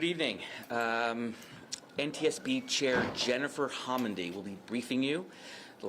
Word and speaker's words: Homendy: to okay good evening um NTSB chair Jennifer homy will be briefing you the last name is spelled h o m n d y chair good evening uh again my name is Jennifer homendy I'm chair of the national Transportation safety board